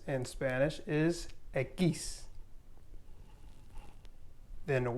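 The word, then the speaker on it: equis: and ube doble and x in spanish is aquis then y is igriega now we have z and this is pronounced so you won't ever make the z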